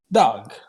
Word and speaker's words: Dag: What kind of a name is Dog? My mother from Helsinki named me Dag.